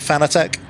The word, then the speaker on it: Fanatec: is, honestly, they call it, they pronounce it Fanatic, right? But anytime I mention it as Fanatic in videos, people get really upset and tell me to go back to calling it Fanatec.